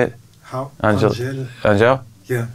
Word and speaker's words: Angèle: yeah D Punk's so brilliant and I like aneli has how you say it howel Angel yeah like she's Belgian Belgian yeah but everyone